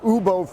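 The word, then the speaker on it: Woobo: I'm with Ubo Foods. Now, this is a South Korean company, so Ubo is spelled W-O-O-B-O, but they're in booth 6423 if people want to find this.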